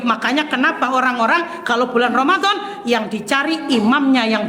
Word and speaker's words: Ramadhan: Saya ulang. Jangan ramadana. Tapi boleh ramadannya tetap sah cuman lebih pas kalau dibacanya Ramadan.